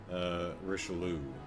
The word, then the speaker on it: Richelieu: Stress on the last syllable, so... Richelieu.